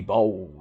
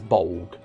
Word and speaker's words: Bolg: mispronounce it, the Gay Bulge. Which I'm fairly certain, I think you're supposed to pronounce the last part as Bolg, but I prefer Bulge.